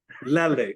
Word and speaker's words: lele: That's the right pronunciation. It should be ukulele. Ukulele. Ukulele. Ukulele. Lele.